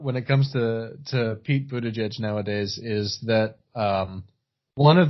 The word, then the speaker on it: Buttigieg: Did we talk last time about Buttigieg being, how do you pronounce it, Joe? Buttigieg.